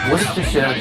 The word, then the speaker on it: Worcestershire: of, by the way, it's pronounced Worcestershire sauce. Everybody makes all these funny little things. I talk to the people in England. That's how you say it.